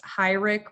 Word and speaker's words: Heurich: from what we know it was always pronounced high rick once he was in